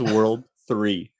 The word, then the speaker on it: WWW: the big that is that is pronounced in mega man fandom or somewhere in canon as world 3.